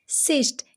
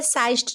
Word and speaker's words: cyst: अब यहाँ पे CYST क्या हो जाएगा, सिस्ट। यहाँ पे भी क्या साइस्ट नहीं पढ़ रहे, इसको सिस्ट पढ़ रहे हैं, CYST, जिम, सिस्ट।